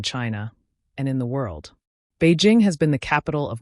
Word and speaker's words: Beijing: That's Beijing in Mandarin, and it means northern capital. It is spelled Bijing, though pronounced more like Beijing, with a soft J. Beijing is located in the